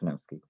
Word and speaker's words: Sejnowski: There was Rumelhart, McLennan, Hinton, and a guy named Snowski, spelled Sejnowski, but it's pronounced Snowski.